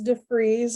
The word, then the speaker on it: DeVries: My last name is DeVries. It's still DeVries. pronounced the German way.